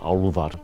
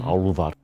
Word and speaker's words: álfar: One of the areas of research that I've been working on is so-called elves or álfar, along with Huldufólk, the hidden ones that Icelanders are so interested in.